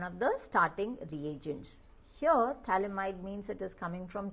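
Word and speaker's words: phthalimide: preparation is known as Gabriel thalamide synthesis pH is silent over here t-h-a-l-i-m-i-d-e in mind group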